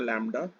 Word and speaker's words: lambda: x की जगह minus लैम्डा, ये सिंबल ऐसे लैम्डा, ये वेवलेंथ का सिंबल है, इसका प्रोनाउंसिएशन है लैम्डा।